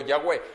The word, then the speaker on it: Yahweh: Y decíamos que la pronunciación más clara o más correcta sería Yahvé o Yahweh.